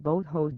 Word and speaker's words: Boho: Medicine, Wales, discovered that Boho dust, pronounced boat, contained antimicrobial properties are unique, and they provide a new weapon in the long run against antibiotic-resistant bacteria.